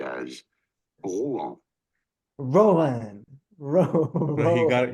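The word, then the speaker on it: Rouen: it is said as ran you got you got to say it like there's peanut butter in your mouth raw um I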